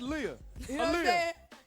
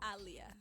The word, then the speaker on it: Aaliyah: the corner be like that's lia what's the connect the connection they're not connected connect pronunciation pronunciation it is aliyah all right no more mistakes should ever be made uh i'll hear his